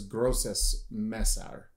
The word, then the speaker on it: Grosses Messer: little bit and apparently the way you would pronounce this is grossus Messer so because gross means like it would be